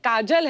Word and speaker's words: काजोल: नाम है आपका काजोल काजल है ना बट काजल होता है काजोल हां बंगाली काजल बंगाली में ऐसे ही उसका प्रोनाउंसिएशन ऐसा पर बड़ा अच्छा लगता